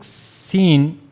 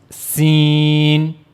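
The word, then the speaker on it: سين: So for pronouncing scene you have to use the tip of the tongue near the inner plates of the upper central incizes.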